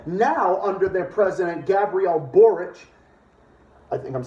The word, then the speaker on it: Boric: the region well now under their president Gabrielle boric I think I'm saying that name correctly um hey uh lee Camp how do we print how do we pronounce that again orange Gabriel Borge thank you well this is just the whole